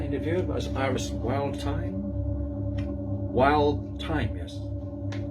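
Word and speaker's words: Wildthyme: Wild Time. Yes, pronounced that right.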